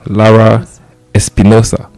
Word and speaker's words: Lara-Espinosa: conversation with uh Alejandra is Alejandra as you pronounce it Lara Espinosa okay yes perfect awesome awesome awesome I got